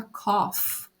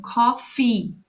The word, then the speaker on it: coffee: Lembrando que café a gente precisa pronunciar o final da palavra, senão fica cough, tá? Cof é tocir, não é isso que a gente tá falando. A gente tá falando coffee.